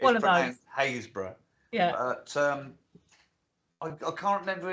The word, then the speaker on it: Happisburgh: There's one in Norfolk, Haysborough. Right. Or it's spelled Happisburgh. Oh, it's one of those. Haysborough.